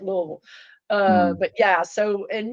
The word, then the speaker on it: Louisville: know I'm from Louisville I know how to pronounce it I really am from Louisville I mean you know Louisville or however foreigners say it but we just say it Louisville uh but yeah so